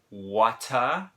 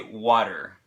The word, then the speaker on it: water: middle of the word we pronounce it too but we pronounce it differently okay we would say water and a lot of